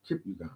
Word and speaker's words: Kipyegon: Faith Kipyegon. She's from Kenya. Okay. Shout out to her, man. Yeah, for real. Yep, How you say her name again? Kipyegon.